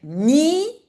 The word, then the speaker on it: nieuwe: And the word nieuwe, not so easy to pronounce, but it's like nieuwe, nieuwe prins.